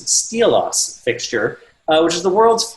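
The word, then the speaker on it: Xtylos: clay paky released the I'll say it confusingly pronounced steelos fixture which is the world's first professional spot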